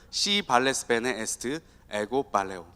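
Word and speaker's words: Si vales bene est ego valeo: 그러니까 쫙 이어서 읽어야 됩니다. 시발레스 베네 에스트 에고 발레오.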